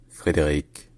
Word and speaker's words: Frédéric: New York Harbor in franch his name is pronounced Frederick August maraldi frederi AUST Bal freder AUST B